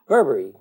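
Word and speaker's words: berbere: do Ethiopian cooking and it's called Berber it is spelled b r right look b e r b r e bberry and it is um bub bbery really as it pronounced and it's a it's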